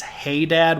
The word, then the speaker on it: Hadad: Linguistics discussion uh yeah I would put the emphasis on the on the first syllable adad as well um the seric and ugaritic and Hebrew version of that is hey dad with an H in the front of it uh adding that breathy element um and hey Dad